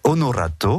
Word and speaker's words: Onorato: Oui, c'est Eda et Onorato, on va le prononcer aussi à l'italienne.